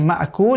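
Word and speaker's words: مَأْكُولٍ: বাকি মাকুল, এখানে ছোট কাফ আছে, এই কাফটাকে কফের মতো উচ্চারণ যাতে না হয় আমরা একটু খেয়াল রাখবো।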